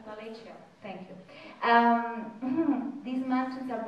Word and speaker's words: Appalachia: Appalachia, is that pronounced it right? Appalachia.